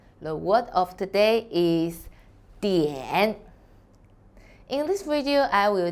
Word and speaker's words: 点: hello i'm sunny the word of today is dn in this video i will teach you how to pronounce it how to write it and how